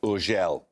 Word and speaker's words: Urgell: It's usually pronounced Urgell.